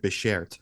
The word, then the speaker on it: beshert: When you say when a man of Guyanese descent says the word beshert, I think I said it right too, right?